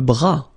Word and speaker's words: bras: Le bras, same thing here, final S not pronounced, le bras.